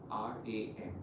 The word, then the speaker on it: Ram: The Bij Mantra chant is R-A-M. The pronunciation is Ram, but I would still want the R to be the longest because I want you